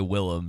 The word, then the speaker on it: Willem: I called William Dafoe last week, and someone was like, "Did you pronounce his name wrong?" It's just like, technically his name is William. Like, he just goes by Willem, so excuse me.